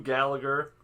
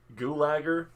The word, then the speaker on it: Gulager: Made in 1985, directed by Dan O'Bannon, starring Clu Gallagher, Gulager, it's a pretty tough name to pronounce, as Bert, the medical supply warehouse owner, with some literal and figurative skeletons in the closet.